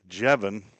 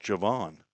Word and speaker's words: Javon: I was calling him Jevin because, again, I thought that's what I was told. She said his name is pronounced Javon.